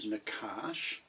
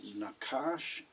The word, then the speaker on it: nachash: We can see here that the word nakash gets two letter A's between its consonants.